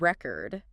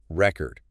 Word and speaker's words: record: You know, like think about the word record. If you stress the first syllable, it's a noun. Record. Like a vinyl record. Exactly. But if you stress the second syllable, it becomes a verb. Record. Like to record something, right?